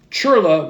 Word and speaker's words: Chirla: Senator Adam Schiff, Xavier Becerra, Mayor Karen Bass, Chirla, which is pronounced c h i r l a, the